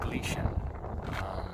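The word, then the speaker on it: Gleichen: in 1883 um and it glycan or actually it's g-l-e-i-c-h-e-n but it's uh pronounced glitch it was actually named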